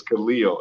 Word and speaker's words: Khaleel: like my name is khalil it's tough to say kaleel so if you want to think about how to say my name right you about superman so superman's name is kyle yeah leo so let me ask